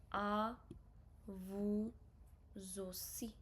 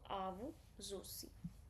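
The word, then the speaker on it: à vous aussi: you, you can use a vu zosi. Au zoi. Here single s will be pronounced like a soft z sound. Okay. So au zosi.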